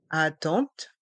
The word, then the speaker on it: attente: et dans le mot attente le E et le N font le son en la salle d'attente la